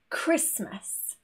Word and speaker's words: Christmas: There are quite a few situations where the H is also silent. For example, CH, such as chemistry, Christmas, echo, or when we have RH next to each other, rhythm, rhino.